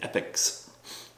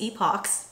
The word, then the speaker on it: epoch: different layers of rock over the eons and epics I thought it's epoch Google pronounce because it's so beautiful see I love